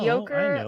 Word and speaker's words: Yoker: Yoker like Joker.